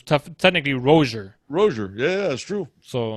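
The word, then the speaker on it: Rosier: But anyways, apparently we were pronouncing Malik Rozier wrong the whole time because it's technically Rozier.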